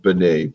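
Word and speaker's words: Benét: woman a very couple named benay b-e-n-e-t a french pronunciation and um i read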